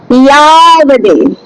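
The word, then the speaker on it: यावदे: ইয়াবদে। ঠিক আছে, ইয়াবদে। যাবদে হয় না সংস্কৃতে, ঠিক আছে, যাবদে হয় না, ইয়াবদে।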